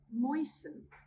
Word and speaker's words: moisten: We do not pronounce the letter T when it comes in the combination S-T-E-N or S-T-L-E. Let's look at some examples. Listen, listen. Moisten, moisten.